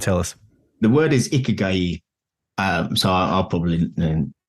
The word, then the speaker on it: Ikigai: The word is Ikigai, so I'll probably mispronounce that for the rest of this podcast, but that was how his Japanese friends sort of told me this morning.